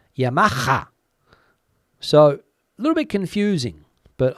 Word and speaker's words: Yamaha: here in Spain Hond but the H in Yamaha is over pronounced Yamaha so little bit confusing